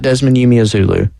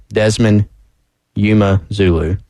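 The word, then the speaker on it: Desmond Umeozulu: Did you see that in the pronunciation guide? We've been getting Desmond wrong, been doing him wrong. Not Desmond Umezulu. Desmond Umezulu.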